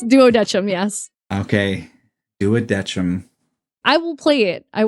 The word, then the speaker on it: Duodecim: Is that how you pronounce that word? I've always been so afraid to try. Thank goodness. Yeah, it's Duodecim.